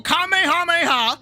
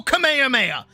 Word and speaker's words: Kamehameha: The There's two pronunciations. You either go kamehameha, which is how he says it, and he says it in the game, or you go kamehameha.